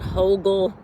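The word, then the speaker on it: Hügel: um gardening technique called Hogal Gardening. And you'll have to check it out. It's um H U G E L gardening. It's pronounced with an O ho ge l.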